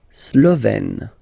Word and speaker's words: Slovène: La Slovénie, so only one form here, Slovène, Slovène. Remember, E accent grave, you open it, Slovène.